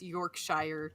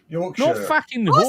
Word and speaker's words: Yorkshire: Guess what? That's how you say sh in the UK. Sure. Sure. No, not Yorkshire.